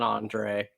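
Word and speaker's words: Andrej: Uh which by the way, I blew Scott Wildcat's mind when I said that the Jay is silent in in Andre.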